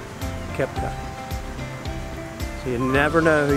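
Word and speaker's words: Koepka: How do I pronounce your last name? Kepka.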